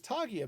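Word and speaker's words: taiga: is awesome so right over here this is togia biome that's how it's pronounced oh i haven't even noticed this little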